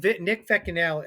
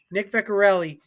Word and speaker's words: Vecchiarelli: He's Nick Vecchianelli. Am I saying it right? Nick Vecchiarelli is.